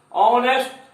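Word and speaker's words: honest: ऑनेस्ट H silent है।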